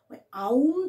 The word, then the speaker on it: ওম: আনছে এই করতে করতে ভেতর থেকে আউম উচ্চারণ আউম থেকে এসছে ওম বোঝাতে পারলাম এইটা করতে